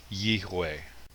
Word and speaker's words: Yahweh: Another piece of evidence is that Arabic, which is almost identical to Hebrew in its alphabet, does not have a Vav, it has a Wa, and it's pronounced with a W. It's possible that the V sound may have come from a Germanic European influence. So rather than Yehweh, it would be Yehweh.